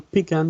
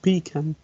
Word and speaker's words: pecan: New Yorkers may stress the first syllable, whereas other dialects may stress the second. For example, pecan is pronounced pecan. Thank you very much. That's right. Some people may say pecan, but for New Yorkers, the word's pecan.